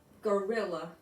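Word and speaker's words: guerrilla: going to see that there are two words that sound just the same, but they're spelled differently and they have a different meaning.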